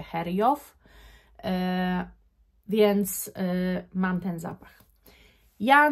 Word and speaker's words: Xerjoff: Sprawdziłam, jak się tę markę czyta, żeby sobie nie wymyślać już i nie tworzyć nowych słów, więc jestem pewna, że tę markę czyta się Heriow, więc mam ten zapach.